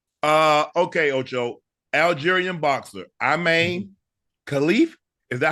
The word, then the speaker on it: Khelif: Algerian boxer Imane Khelif. Is that how you say her name, Ash? Yeah, Khelif.